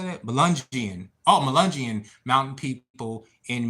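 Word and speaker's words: Melungeon: Jeremy, my maternal grandpa's whole side, Southwest Virginia, have mixed Malagian mountain. What's it? What? How do you say that? Melungian.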